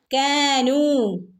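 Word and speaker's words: كانوا: കാഫിന് ഞാൻ പറഞ്ഞല്ലോ ചെറിയൊരു ചെരിവ് വേണേ. കാനൂ ഇവിടെ 2 അനക്കം നീട്ടി കൊടുക്കുക. വാവ് മദ്. കാനൂ ഇവിടെ അലിഫിൻ്റെ മുകളിലൊരു സുക്കൂന്. നമ്മൾ ഇതിന് ഒരു ഉച്ചാരണം കൊടുക്കേണ്ടതില്ല കേട്ടോ.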